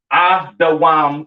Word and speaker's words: Edom: Pronounced Adawam in the Hebrew, all right? Edom, Adawam. Excuse me.